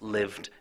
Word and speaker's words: lived: silent e to live the e is silent which means that you don't hear it and to love you also don't hear the e so it's a silent e and it's lived and loved and of course only